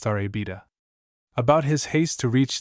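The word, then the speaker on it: La Rábida: the sand dunes called La Rabida, pronounced Arabida.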